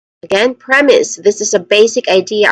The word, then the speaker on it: premise: Second syllable is is premise is.